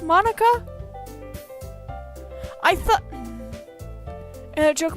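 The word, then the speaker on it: Monika: really doesn't wipe so your name is supposed to be pronounced Monica I thought and I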